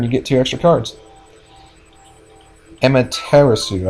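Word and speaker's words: Amaterasu: get two extra cards Emma terasu I that's how you pronounce it um I very rarely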